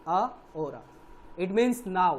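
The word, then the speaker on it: ahora: Hora means a hora, it is actually pronounced a hora, a hora.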